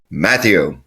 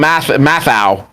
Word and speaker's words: Matthew: And he said, "Actually, he loves it when I call him Mathau." Even though that's not how it's pronounced, it is Matthew.